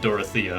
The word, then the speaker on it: Dorothea: i've heard okay so you can actually pronounce it dorothea i've been saying i've just been saying dorothy this whole time adjacent allies recover at